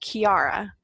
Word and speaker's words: Ciara: she's like ya know it's Irish and it's actually pronounced Chiara and so she refused